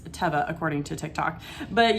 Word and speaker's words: Teva: quick so i listed these shoes they're the teva brand and i do for a fact know that they pronounce it teva because a guy on tick tock told me